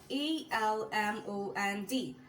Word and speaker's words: almond: The next word is ALMOND. This is a silent L word.